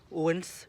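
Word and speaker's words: Odense: filmer donc holdance donc Oden ça se dit pas comme ça dans la langue danoise ça se dit Owens voilà il faut savoir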